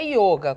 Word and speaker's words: yoga: Em sânscrito, a língua original do yoga, realmente é yoga, com o fechadinho, é masculino e tal.